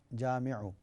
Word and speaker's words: جامعو: جمع کر دے گا۔ جامعو کی سپیلنگ ہے جیم الف میم اور عین، جامعو۔ اس کے بعد ہماری